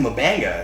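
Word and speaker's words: M'Benga: finally toward the end manga yes it is manga what we really needed was for another character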